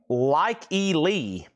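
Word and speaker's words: Lykke Li: And this is, thank you, Laura, pronounced Like E. Lee album, I Never Learn.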